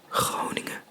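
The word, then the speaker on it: Groningen: and above the rivers people talk with a hard G sound so for example if I were to say um the province of honing in Dutch it obviously has a pretty harsh G sound which is how I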